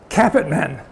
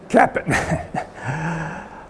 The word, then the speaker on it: Capitman: It's hard to get the name it's pronounced easily. Capitman. Capitman.